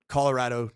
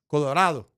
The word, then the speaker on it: Colorado: The p the pronunciation in Spanish is Colorado. Colorado. So you all are saying it wrong.